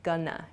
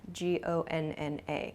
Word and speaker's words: gonna: Going to shortens to gonna, G-O-N-N-A, gonna.